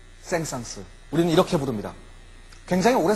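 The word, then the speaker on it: Saint-Saëns: 우 생상 쓱 우리는 올해 저는 생상 이라고 불렀습니다 생성 프랑스 사람이기 때문에 마지막에 쓸 발음하지 않는 것이 옳다 라고 생각했던 시절이 있었습니다 그런데 저의 스가 사랑 이름의 올때는 발음을 해야 된답니다 센스가 맞습니다 까미유 쎈스 우린 이렇게 부릅니다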